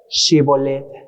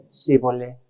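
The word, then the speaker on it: Shibboleth: por qué morían porque ellos no podrían pronunciar qué shibolet shibolet ellos cómo decían cí volet sí volé Nosotros también tenemos nuestros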